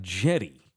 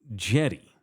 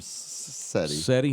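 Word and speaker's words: Cedi: sissoko and they've got jetty it's spelled with us it's spelled c-e-d-i Jetty it's pronounced like Jetty like a jetty out in the ocean really Jetty yeah I've always called him setting now it's Jetty just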